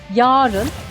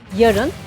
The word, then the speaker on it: yarın: ve hayır dilimizi bunları günlük hayatta birçok kişi ayı uzatarak söylüyor yani yarın veya hayır diye söylüyor ki benim bu kulaklarım bunları bu şekilde söyleyen sunucular Yerler bile e duydu ancak doğrusu anın kısa telaffuzu Yani yarın ve hayır şeklinde söylenmesi Barış Manço'nun çok